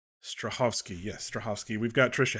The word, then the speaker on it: Strahovski: Sheen we've got yvon stovsky I can't I don't think I pronounced her name right her last name right Strahovski yes stovsky we've got